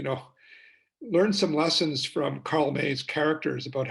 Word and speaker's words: Karl May: There was a German author by the name of, what was his, you know, Karl May. It's how it's pronounced in German, M-A-Y, or Karl May.